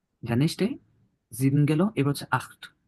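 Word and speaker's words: acht: জিন গেল এবার হচ্ছে আখ খ এর মত হবে এটা কিন্তু ক না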